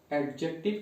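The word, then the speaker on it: adjective: Noun, pronoun, एडजेक्टिव की एडजेक्टिव, इसको एडजेक्टिव नहीं, डी को साइलेंट करते हैं, एडजेक्टिव पढ़ते हैं।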